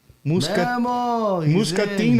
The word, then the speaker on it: Muscatine: Muscatine, Iowa.